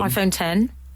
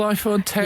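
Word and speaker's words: iPhone X: iPhone 10. Is it called iPhone 10? Yes. It's spelled X.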